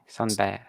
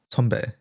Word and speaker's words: 선배: Sunbae. Sonbae.